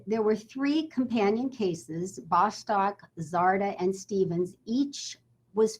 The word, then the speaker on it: Bostock: uh he pronounces his the plaintiff lead plaintiff pronounces his last name bostock you've probably heard it pronounced bostock as well which is probably possibly the more common pronunciation so i wanted